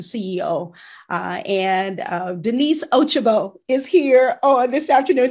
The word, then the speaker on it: Ochigbo: company she's a ceo uh and uh denise ochiba is here on this afternoon did i do it right yes you pronounced it right you all know me